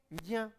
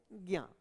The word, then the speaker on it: ज्ञ: हम बोलते क्या है, सामान्य रूप से क्या कह देते हैं, ज्ञा, ये बोलते हैं, ठीक है ना। इस तरीके का उच्चारण करते हैं हम इसका, तो ज्ञा बोलते हैं, जबकि इसका शुद्ध उच्चारण क्या होना चाहिए, ज्या होना चाहिए।